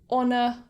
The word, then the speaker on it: honor: to these rules are words that start with a silent h so for example words like honor or honest or hour so instead of saying